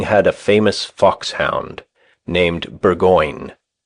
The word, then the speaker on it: Burgoyne: Nutting had a famous foxhound named Burgoyne. He pronounced it Boggeen.